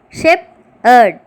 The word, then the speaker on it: shepherd: 9th one, shepherd, shep-erd, 2 syllables.